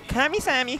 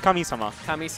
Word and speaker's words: Kamisama: I cannot pronounce his tag. I'm sorry. Kamisami. Kamisami. I mean, it's Kamisama.